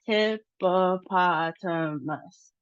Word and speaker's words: hippopotamus: So, we see that our emphasis is on the third syllable and then we have a low emphasis on the first syllable and that we have short sounds. So, there's no long sounds.